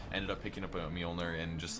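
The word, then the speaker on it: Mjölnir: I say Mjolnir. I think Mjolnir is the correct way to say it, but you know, it's a very heated discussion about that word as well.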